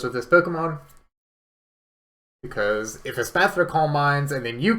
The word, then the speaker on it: Espathra: Espathra, I believe, is how that Pokemon's pronounced.